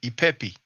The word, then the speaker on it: Ipepi: Many times what we pronounce like a R sound is actually E according to the transliteration. But here we have the E, the P, the E, Ipepi.